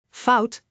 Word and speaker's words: fout: Fout which means mistake. Bao which means construction. That is how you pronounce the Dutch diff.